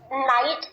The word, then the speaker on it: knight: k and i ght now k is silent so when you write knight in phonetic symbols you see that it begins with n okay because pronunciation means